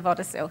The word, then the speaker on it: Vodesil: You'll probably know it better than me, but is it Vodacel? It is, Vodacel, yes. Beautiful.